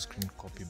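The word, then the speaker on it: scrcpy: application is screen copy it is pronounced screen copy but it is written scr cpy so here's the application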